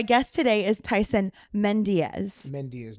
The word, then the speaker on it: Mendeas: Mendeas, not Mendez. Mendeas. Not the Mendez brothers. Yes. Well, it's Mendeas.